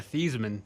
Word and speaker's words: Theismann: change the heisman yeah thiesman okay yeah wow but they changed it just to rhyme with heisman wow um so yeah